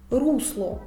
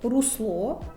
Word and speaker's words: русло: цінник цінник течія течія русло русло випадок випадок правильно наголошені слова треба вимовляти так цінник бо цінник викликає Тик течія можна поставити собі питання та чия русло група імена Руслан випадок бо випадок то